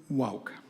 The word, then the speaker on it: Wauk: Could I call forward Mr Wauk? Apologies if your name was mispronounced, but please give your name and address for the public record. Yeah, it's Woke, so you were fairly close.